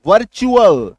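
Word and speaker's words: virtual: यानी कि क्या याद रखिएगा, T plus यूएएल is equals to च प्रोनाउंसिएशन होने जा रहा है। एग्जाम्पल देखिए, VIR टी, टी के बाद यूएल, वर्चुअल च, ठीक है।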